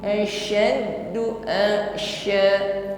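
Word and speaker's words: أشد: La antum asyaddu sya, pengucapan huruf shin disertai dengan angin yang menyebar. Sya, bukan asa ya.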